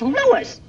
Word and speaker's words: Louis: story at the plant Lois Lois my name is Lewis not Lois Jake Williams everybody in toy believes me name wrong it's Lewis l o u i s Lois uh Louise Lucy